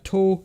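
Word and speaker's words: 十: So I guess another way, yeah, To. This can also be pronounced To. That's one of the kunyomis.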